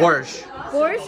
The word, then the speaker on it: borscht: Borscht.